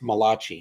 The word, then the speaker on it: Malachi: And it's pronounced Malachi. He was an Italian.